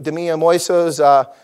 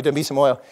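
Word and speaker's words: Dambisa Moyo: Demia Moiso's, excuse me, I always get her name wrong. Thank you, Demisa Moyo.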